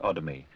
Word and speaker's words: Odomy: O R Gan spelled with two N's and the struggling Nigerian author S. Odomy with the emphasis on the O.